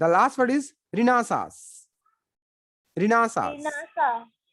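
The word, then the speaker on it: Renaissance: Okay, रिनासास।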